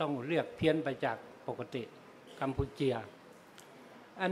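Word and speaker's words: កម្ពុជា: นี้ มา ใน กัมพูชา แต่ เขา ออก เสียง ว่า กัมปูเจีย นะ กัมปูเจีย สระ อาเนี่ย เป็น ถ้า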